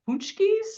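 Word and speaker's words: pączki: am I saying wrong pki you're saying it if you look at how it's spelled you're like wait how did they get out like that can't be right that can't be right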